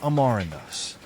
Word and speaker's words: amaranthus: growth stages how to pronounce amaranthus amaranthus is pronounced amarandos I remember stumbling over the pronunciation at first